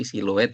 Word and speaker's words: siluet: tadi Dari Mbak Gusti bukan silhud tapi silouet ya mbak ya Eh iya